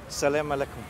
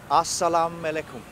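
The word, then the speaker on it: as-salamu alaykum: on the other side Selam aleykum that's not actually how you say it it's very much yeah that's what you say back to me isn't it yeah just like a Salam alaykum assalamu alaikum exactly yeah what do you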